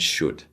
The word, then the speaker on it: should: as you can see these L's need to be silent would could and should we don't want to say w or Co or sh or something like that it would sound very strange to an English native but if you've been